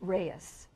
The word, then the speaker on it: Reyes: the father's name but if you want to say it correctly it would be Mr Juan Carlos Alvarez Rees but a lot of